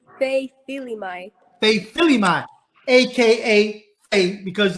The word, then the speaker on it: Fei Faiva: And I'm going to try to pronounce your first name, Fei. Fei. How you say it, Fei? It's Fei Faiva.